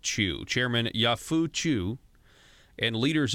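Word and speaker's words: Qiu: chairman yah Phu Chu spelled Qi you but pronounced Chu chairman Yahoo Chu and leaders of a of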